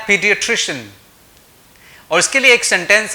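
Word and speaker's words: pediatrician: Right, तो मैं बात कर रहा हूं चाइल्ड स्पेशलिस्ट की और इसको हम बोलते हैं पीडियाट्रिशियन। और इसके लिए एक सेंटेंस है, इस सेंटेंस को आप दोहरा के इसकी प्रोनाउंसिएशन को झटके में सीख सकते हैं।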